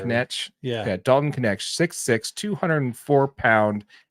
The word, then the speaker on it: Knecht: Yeah, Knecht. Knecht.